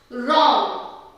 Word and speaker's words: wrong: For example, rap, wrong, wrist, writing. So இதெல்லாம் W silent இருக்கும்.